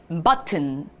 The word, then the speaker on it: button: TTON을 튼으로 읽어주시면 됩니다. 너무 톤 하면 좀 이상하잖아요. 우리 조금 더 매끄럽게 button.